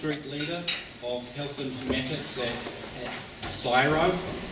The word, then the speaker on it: CSIRO: leader of health informatics syro I think it's pronounced which is the government